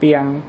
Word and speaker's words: เปียง: รู้ เคย รู้ มั้ย เ เปียง ก็ คือ เพียง เพียง พอ นั่น แหละ ภาษา เหนือ พ พาน เนี่ย เ จะ ใช้ เป็น ป ปา เวลา ออก เสียง เนี่ย เพราะ ฉะนั้น เมื่อ